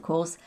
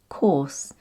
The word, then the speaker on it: course: the answer is of course none of your choices in this case the o-u-r is pronounced or so it becomes course and it's the same